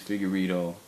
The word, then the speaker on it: Figueiredo: of my last name my last name is figuro so when I started out instead of using